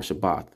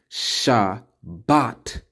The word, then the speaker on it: Shabbat: as we can see Shabbat means this or means this all right so we have to stop saying Shabbat with the T at the end Shabbat I'm putting emphasis